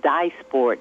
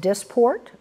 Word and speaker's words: Dysport: they fall in that category what do you dye sport and when will it be available well it's actually pronounced disport grant disport and it is available and the